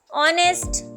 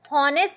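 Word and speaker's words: honest: ऑनेस्ट, नेक्स्ट word है ऑनेस्ट means ईमानदार। ऑनेस्ट, तो ऑनेस्ट अब हम इसे हॉनेस्ट तो नहीं रीड करेंगे ना, हॉनेस्ट रीड करेंगे तो कितना अजीब सा लगेगा, तो हम इसे पढ़ते हैं ऑनेस्ट।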